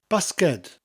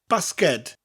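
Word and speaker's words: basged: guessed from that that basket in Welsh is basket but the D not a T at the end basket but it mutates after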